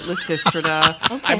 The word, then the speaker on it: Lysistrata: We were told to pronounce it Lysistrata by our director.